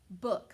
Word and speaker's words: book: way makes sense because remember ooh can say uh or it can say ooh okay like so we're going to try to sound it out so i have ba book very good because if i tried the other way and say ba ook boop doesn't make sense so books books very